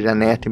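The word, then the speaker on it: Jeanette: no meu vídeo, mas se eu não me engano a pronúncia é Janete mesmo, é só um outro jeito de pronunciar.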